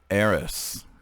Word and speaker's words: Eris: puzzles you usually will aeris as in aaron with an s the greek goddess of